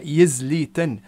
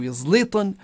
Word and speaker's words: يزليتن: طبعا الفيتوري كلمة فيتور كلمة أمازيغية وهو الزيتون المنفوش، والمعروف ويزليتن هيك كانت تنطق الكلمة يزليتن بالتاء مش بالطاء وفيها يا في البداية. ويزليطن أو يزليطن تعني في الأمازيغية الأوسط